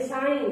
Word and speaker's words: sign: जैसे साइन, SHINE, साइन। SHINE, साइन। F letter कब साइलेंट होगा?